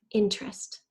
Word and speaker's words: interest: interest in old planes interest it's actually three syllables but we kind of squish it into two okay alright pause if